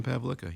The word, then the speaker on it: Pavlika: Yeah, with Wayne Pavlika, yes. All right. Well, make sure you pronounce the name correctly, okay?